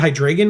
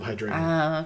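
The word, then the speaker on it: Hydreigon: I always pronounce it Hydragon because it's dragon.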